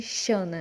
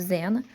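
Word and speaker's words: Xana: Chamada Zena, mas ela se escreve assim, né? No português não ia ficar legal, né? Chamar desse jeito, mas por isso que botaram a tradução original, né? Chamada de Zena, não de Shana, né?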